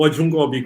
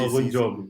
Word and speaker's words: Ogunjobi: Mas pá, não é o Ojungobi, como tu dizes. Não é o Ogunjobi. Sim, sim. Ogunjobi, pronto. Ojunjobi. Ojunjobi, agora Ogunjobi. estava a trocar tudo.